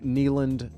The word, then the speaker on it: Kneeland: He can be found at the Andrew Kneeland. That is spelled TheAndrew, Kneeland, knee as in knee, Kneeeland.